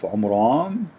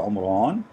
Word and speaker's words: Imran: run which is coming from the name of Imran Imran he Muhammad he could not pronounce the name correctly that's why it's coming funny so he said the Omer on let me look how even the mean in